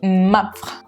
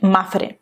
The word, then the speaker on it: Mapfre: Et puis vous, si j'ai bien compris, c'est la façon de le prononcer, c'est Mapfre. Pour un espagnol, dire ça avec un accent français, Mapfre, pour moi, c'est hyper compliqué. Mais bon, on dit Mapfre.